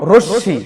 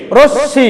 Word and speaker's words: রশ্মি: কেন পড়া যাবে না যে শব্দের শেষ বর্ণে ম ফালা আসছে এজন্য এটা ম ফলা অনুচ্চারিত থাকবে যে বর্ণের সঙ্গে লেগে আসছে ওই বর্ণের দৃত্ত উচ্চারণ হবে তাহলে তালবস সঙ্গে আসছে